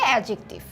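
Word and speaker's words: adjective: আমি একটু বলে রাখি লেখার সময় আমরা অ্যাডজেক্টিভ ডিটি লিখছি তবে সাধারণত উচ্চারণ করার সময় ডিটি থাকবে উচ্চারিত হবে এডজেক্টিভ আচ্ছা এখন এডজেক্টিভ কাকে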